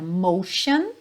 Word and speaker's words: motion: bastante nessa música são palavras com a letra t ou C que na verdade vão ter som de X Então logo nesse primeiro slide Aqui você vê a palavra motion e a palavra para Ocean então repara que tem